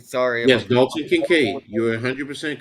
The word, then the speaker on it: Kincaid: he's Kincaid. available right now to take. Yes. I'm going with him, Dalton Kincaid. I Yep. don't know if I'm saying that correctly. Sorry if Yes, I'm. Dalton Kincaid.